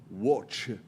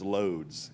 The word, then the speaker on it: Łódź: The actual town that she kind of came up in is called Łódź. I'm going to pronounce it as Lodz, L-O-D-Z, because that's the way it looks to us.